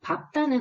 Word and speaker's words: 밟다: 밟다는 이 규칙의 예외거든요. 밟다, 밟고, 밟지와 같이 다소 어색하지만 비읍으로 발음하는 것이 표준 발음입니다.